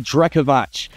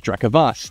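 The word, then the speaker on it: Drekavac: In the battle cruisers, we have the Drekovach, or Drekovac, Drekovas, Drekovats. There's lots of different ways you can pronounce this depending on where in the Slavic region you are looking.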